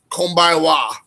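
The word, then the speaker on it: こんばんは: And in the winter, in the nighttime, in the evening, it's konbaiwa. CONBANWA. Konbaiwa.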